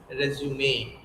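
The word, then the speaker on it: résumé: So repeat it with me, it is resume.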